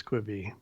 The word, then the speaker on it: Quibi: just that all Josh has time for is kwibi all right so let's move on from kwibi